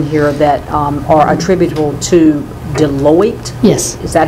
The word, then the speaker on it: Deloitte: You've got several studies in here that are attributable to Deloitte. Yes. Is that how you pronounce that?